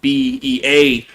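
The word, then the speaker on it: Bevis: Not spelled like Beavis, but it's B-E-V-I-S, not B-E-A-V-I-S. But it is Beavis.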